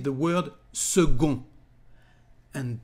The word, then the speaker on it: second: they said the word segun and pay attention to the weird pronunciation because the letter c is said like g in french and pay attention